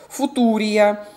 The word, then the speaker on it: Футурия: В каталоге, кстати говоря, так и пишется «Футурия». Вот девчонки некоторые делали мне замечание, что и фьючи надо и так далее. Мы читаем не на английском языке в данном конкретном случае, а так, как написано в каталоге.